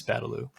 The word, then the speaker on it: Badalau: I don't know how to pronounce his name. It's Badalau.